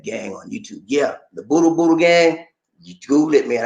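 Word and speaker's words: budol: Spell it, Lisa. Boodle. I posted it in here. B-U-D-O-L. B-U-D-O-L. Boodle.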